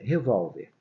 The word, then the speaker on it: revólver: Olha, revólver. Revólver é uma palavra paroxítona. Por quê? Porque a penúltima sílaba, lembra, é a sílaba forte. Se a gente separar a palavra revólver, revolver.